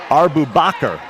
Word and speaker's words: Boubacar: and underneath is our boubacar hasana arbubakar is the correct pronunciation of her last name and she made sure